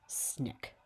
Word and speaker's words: SNCC: non-violent coordinating committee or sncc which we simply pronounced as snick okay i'm going now